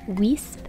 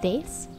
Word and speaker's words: Weesp: walk around and see vase i always want to pronounce the name of this town like wisp but it's actually pronounced more like vase it's a really small